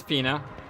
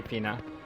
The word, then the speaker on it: Fina: I don't know if I said that yet already this episode, but it is Fina, just like F-E-E-N-A, Fina.